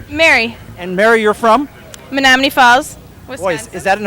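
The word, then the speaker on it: Menomonee Falls: Menominee Falls?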